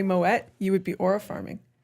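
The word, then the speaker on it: Moët: I went to Mo and Shandon which I learned is Moette. It's supposed to be pronounced Moette.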